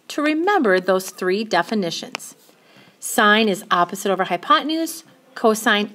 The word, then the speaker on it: sine: the three sides so s i n theta is actually pronounced sine theta we just abbreviate with those three letters so sine from theta